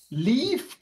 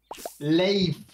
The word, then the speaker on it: Leif: You keep pronouncing his name into Leaf or Life. Now, what would the pronunciation be then? And I'm getting distracted here with written butterflies. Leif. Leif. Okay, now so you like said it right. Like it's two, like it's two E's.